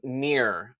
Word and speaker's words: Mere: M-E-R-E, Mirror. I believe that's how you pronounce it.